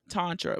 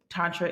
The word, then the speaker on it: Tantra: from the point that Tantra is liberation. okay. That's one of the many ways you can break down the word. Um, it's a Sanskrit word that has two syllables, And the first is tan, and tan can, you